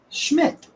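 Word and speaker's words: Szmyt: It's pron pronounced schmidt. Oh my god, they were right. Those letters you get schmidt out of that.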